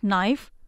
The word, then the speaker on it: knife: silent letters in them like knife the K is silent or in the word